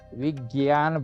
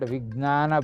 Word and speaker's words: Vigyan: Last time I told, in Delhi, there is what is called as Vigyan Bhavan, not Vijnana Bhavan. It is difficult to pronounce for many people also.